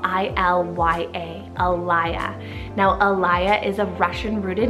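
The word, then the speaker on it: Ilya: Then we have Alaya, spelled I-L-Y-A, Alaya.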